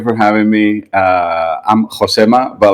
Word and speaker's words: Josema: and I was like, "No, my name is Josema. like you can pronounce it wrong but like not Joe.